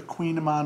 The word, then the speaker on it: Kouign Amann: to tell you have you heard of the queen of mine before it's spelled k-o-u-i-g-n a-m-m-a-n it's also known as a